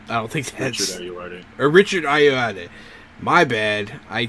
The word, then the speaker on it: Ayoade: don't think Fable's going to be about Steve Aoda beating us up in his house. I don't think that's Richard Ayoade.